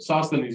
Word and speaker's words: Sosthenes: Sosthenes? Is that how to pronounce it? Sosthenes, yes.